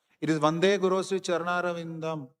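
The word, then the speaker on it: चरणारविन्दम्: It is Vande Guru Sri Charanaravindam. Not Vande Guru Sri Charanaravindama. If you put the halant, it becomes Charanaravindam.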